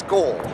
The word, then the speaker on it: skål: Yeah, you've got the Kelly's got the pronunciation down. It's skål. Oh, skål. Skål? Yeah, S-K-O-A-L, Yeah. but apparently like there's an O above the A.